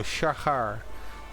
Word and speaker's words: Shahar: I'm Dutch, so the first H I would not pronounce. So it's more like a y, and the we do have in Dutch. So Shahar.